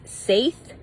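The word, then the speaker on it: seiðr: rediscovering northern Europe shamanistic practices also known as saith it is spelled SE DH but pronounced Sai in a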